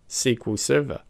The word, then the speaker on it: SQL Server: pronounced as MySQL whereas Microsoft SQL Server is pronounced as SQL Server sometimes I trip up and accidentally use the